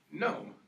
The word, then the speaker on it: gnome: of Aaron's G NWS gnome okay spell gnome g n o m e and what letter is silent that we're going to cross out the G and what letter are